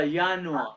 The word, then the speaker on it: Januar: January, या yacht के साथ, यानुआ, January, February, March, April, May, June, uni, yacht, June, July, August, September, September.